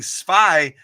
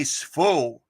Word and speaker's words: zwei: And some places in Germany, instead of saying zwei, they say svo.